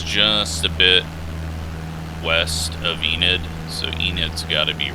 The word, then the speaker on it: Enid: a bit west of enid so enid's got to be right there hopefully it's not pronounced ended see if i can get a uh nope looks like i'm saying it right yeah land has gotten